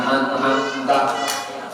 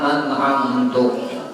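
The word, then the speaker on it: أَنْعَمْتَ: Nah, atau tadi syiratal ladzina an'amta, dibacanya syiratal ladzina an'amtu alaihim, tahunya pada ini haram membacanya, kada boleh nang kayak ini, batal sembahyangnya. Dia baru ulangi. Atau ini baca syiratal ladzina an'amti, padahal kada boleh bacaan akti itu karena merubah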